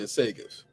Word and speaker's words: Segev: Segev? Segev or something like that. Segev. Yeah, Segev. Oh, Segev. Yeah, because it's foreign, right?